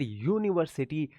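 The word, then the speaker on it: university: यूनिवर्सिटी य का sound आया है।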